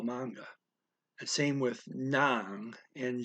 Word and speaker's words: mga: equivalent um okay uh mga is pronounced manga it's one of uh two words that don't that are not phonetic in this language um so there's no reason why mgh should be manga just that's how they